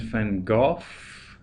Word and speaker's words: van Gogh: So Vincent Willem van Gogh, that's the pronunciation, but in Dutch it's actually Van Gogh. Yeah, there's the Dutch.